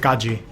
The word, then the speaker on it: Qazi: Well, you don't pronounce it quasi, so I guess it means nothing.